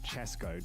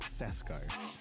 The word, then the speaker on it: Francesco: sixth is fathenko with ten and seventh is dragonee with eight yes the race is finished because his name is francesco so you say chesco not cesco i have been saying it